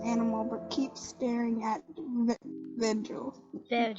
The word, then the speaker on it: Vergil: The laughing Janice takes the stuffed animal but keeps staring at Virgil. I'm gonna say it like Virgil. Virgil. Wait, hold up. For the audience, it is spelled Vergil.